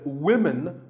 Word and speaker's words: women: you always say often one word that's often mispronounced by learners of english is women this is of course because of the english language's crazy spelling system but remember that we say woman for one woman and women for the plural women